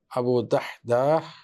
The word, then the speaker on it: দাহদাহ: আবু দাহদা আবু দাহদা উচ্চারণটা কঠিন দাল হা সুকুন দাল আলিফ হা আবু দাহদাহ রাদিয়াল্লাহু আসেন এবং বলেন ওই